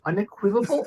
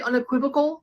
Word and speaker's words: unequivocal: Unequivocable? Are you trying to say unequivocal?